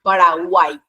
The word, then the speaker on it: Paraguay: Lo mismo pasa con Paraguay. Tiene tres sílabas.